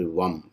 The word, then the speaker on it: Vam: For Swadhisthana, you use the syllable Vam, V-A-M.